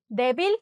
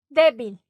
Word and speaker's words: débil: Débil con acento en la E. Débil, ¿no?